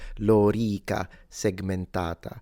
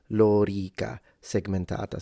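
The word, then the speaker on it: lorica segmentata: it would be pronounced Lor segmentata so both the O and the E are long Lor segmentata so the Romans wouldn't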